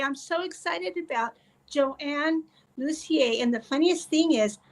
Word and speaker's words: Lussier: Luzier. I I knew I would do that. That's okay. You got the French pronunciation.